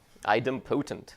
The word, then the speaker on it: idempotent: are supposed to be Edom patent idempotent i don't know how you say this word how do you say this word impotent okay idempotent yeah exactly so what does that